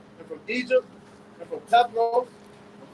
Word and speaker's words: Pathros: left from Assyria and from Egypt and from Pathros.